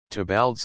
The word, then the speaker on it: Theobald: suit his own ideas toal's Lewis Theobald pronounced toal a scholar who had